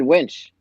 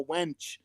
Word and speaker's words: winch: Jeremy, you know that word's spelled with an I and not an E, right? I said winch. Did I say winch? Okay. I think I've heard it before. It seems like some people in here have been calling it a wench.